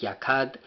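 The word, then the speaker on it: יָקַד: y pues viene, desciende de la raíz, que es el H3344, que significa, bueno, la pronunciación es Yakad, y significa pues el quemar, el encender en fuego.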